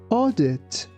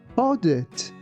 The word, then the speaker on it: audit: Audit. Audit.